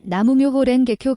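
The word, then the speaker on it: 南無妙法蓮華経: 묘법 연화 경기라고 불렀는데 일본어로 발음하면 나무 묘호렌게쿄 됩니다 1991년에 조직 운영상의 갈등으로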